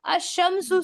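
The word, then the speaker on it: الشمس: अशमसु वल है ना अशमसु से याद कर लेना अशमसु उसमें लाम का प्रोनाउंसिएशन नहीं हो रहा है।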